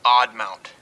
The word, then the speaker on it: Aadmount: some time here online this is the odd mount aadmount pronounced odd mount by john audland at